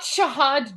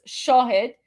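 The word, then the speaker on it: Shahed: Okay, it's not Shahad drones, you fool. It's Shahid or Shahid. It's Shahid drones. It's pronounced. It's not Shahad. It's Shahid.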